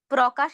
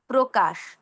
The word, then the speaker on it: প্রকাশ: প্রকাশ না বলে ও এর মত উচ্চারণ করব প্রকাশ।